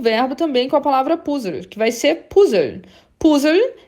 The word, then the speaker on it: Puzzle: Puzzle é o puzzle, né? É o quebra-cabeça, tá? Se escreve como em inglês, mas fala realmente um pouco alemanizado aí, né?